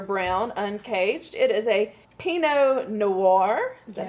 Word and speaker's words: Pinot Noir: the Z Alexander Brown uncaged it is a Peno Noir is that how you say it yes yes